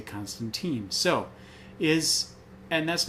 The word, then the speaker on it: Constantine: interested in um uh I will always call him Constantine because he's an Englishman and that's how they pronounce it apparently but in the new